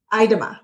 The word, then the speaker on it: Idema: I have with me today Stacy Idema. Idema, right? I pronounced that correctly.